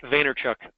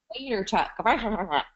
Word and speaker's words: Vaynerchuk: I never know how to say his last name. It's like Vaynerchuk. Vaynerchuk.